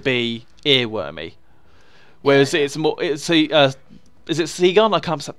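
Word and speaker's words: Segun: Whereas is it Seagun? I can't pronounce his name. Sagan?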